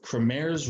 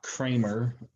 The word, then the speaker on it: Cramer: So Cramer's rule, and that's pronounced like Cramer, not Kramer, although I guess you can just say Kramer, especially if you're a big Seinfeld fan like myself.